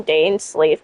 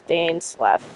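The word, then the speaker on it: Dainsleif: I always called him Dane Sleeve, but it's Dane Sleff. I can't I can't I can't believe I um mispronounced his name.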